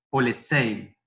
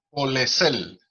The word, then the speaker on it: Polesel: voy a dar la bienvenida formal a Marcos Polesei. Sí. ¿Se pronuncia bien así? Polesei. Polesel, con L al final.